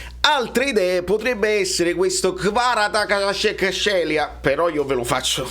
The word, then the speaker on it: Kvaratskhelia: Kvaratskhelia, e ve lo faccio sentire di nuovo così voi lo imparate, e nel caso sapete già come pronunciarlo. Kvaratskhelia. È chiaro? È chiarissimo. Kvaratskhelia.